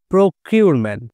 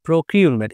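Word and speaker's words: procurement: ডকিউমেন্ট তারপরে কি রয়েছে প্রকিউরমেন্ট প্রকিউরমেন্ট এখানে ইউ এর উচ্চারণ ইউ হবে এখানেও ইউ এর উচ্চারণ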